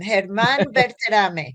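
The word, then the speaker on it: Germán Berterame: And we have learned to pronounce his name. Herman Bertame.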